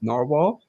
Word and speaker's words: Nahvalur: narwhal I just learned that I have to pronounce it as narwhal just two minutes ago because I always pronounce